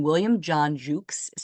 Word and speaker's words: Jucksch: so bill or his full name William John Jukes is how it's pronounced William John Jukes was born in 1925 in McAllen Texas he